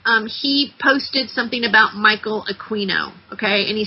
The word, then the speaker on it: Aquino: A book called Mind Wars, written by Michael Aquino, pronounced Aquino, Alpha to the Omega, ruled by negative feminine